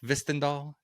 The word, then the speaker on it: Hvistendahl: All right, we are joined today by Hvistendahl.